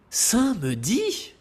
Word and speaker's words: samedi: Samedi, seriez-vous devenu fou ? Ce mot se dit comme il s'écrit avec un a qui est visible et imposant. Et n'oubliez pas d'ouvrir la bouche pour parler.